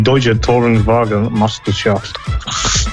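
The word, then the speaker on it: Deutsche Tourenwagen Meisterschaft: It's not Deutsche Touring Wagen Masters. It's actually Deutsche Touring Wagen Meisterschaft. To get it actually pronounced. Yeah, Meisterschaft, yeah. Are you trying to get me to pronounce it dead on in German?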